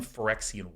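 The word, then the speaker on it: Phyrexian: the line cutting through it this is one forexian white is how that is pronounced two Francine whites and one um this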